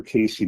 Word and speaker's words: Cayce: Uh again, Casey is spelled C A Y C.